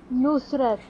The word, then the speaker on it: Nusret: Se liga a pronúncia. Nusret.